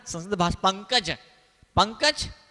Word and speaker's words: पंकज: अंग्रेजी में लिखो PANKJ, और जिसने संस्कृत नहीं पढ़ी उसको बोलो पढ़, उच्चारण वो क्या बोलेगा, पान काच। क्या पढ़ेगा, पान काच, PAN पान, OKJ काच, पान काच।